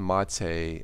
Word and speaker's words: MATE: Linux Mint Cinnamon, Mate, and LMDE2. Let's click the Mate edition. Yes, it is spelled mate, but as far as I know, it is pronounced Mate.